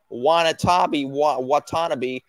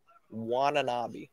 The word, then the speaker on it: Watanabe: Watanabe. That's how they're pronouncing it, the announcers. Watanabe.